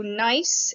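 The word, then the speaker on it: gneiss: mica schist and then nice g n e i s s the g is silent so nice is also a fully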